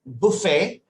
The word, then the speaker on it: buffet: britisher as a in British English it is buffet and the tea is silent okay Buffet buffet buffet okay and in